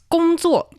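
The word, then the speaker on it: 工作: It's 工作.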